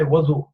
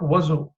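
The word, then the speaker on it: وضوء: बहुत से लोग even in their 60s 70s they say wudu. It's not wuzu. No, there is no such word as wuzu, especially in this context. But the correct pronunciation is wudu.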